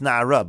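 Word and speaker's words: נערה: Now, the idea over here is that it's written in Nar, but it's pronounced Na'ara, but it's written Chaser.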